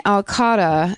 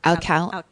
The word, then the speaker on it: Alcala: Rodney Alcotta, if I'm pronouncing it correctly. Alcala.